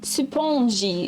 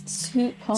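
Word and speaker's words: スポンジ: Supponji is how you say sponge in Japanese. Supponji.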